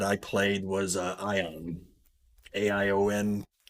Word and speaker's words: Aion: played was uh ion aion some people pronounce it aeon ion anyway uh one